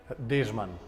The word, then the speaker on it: Dežman: Dežman. How do you spell that?